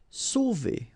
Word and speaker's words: sauver: Sauver. Okay, remember when you combine A and U, you get the sound O. So really like the letter O. Okay, so sauver, sauver.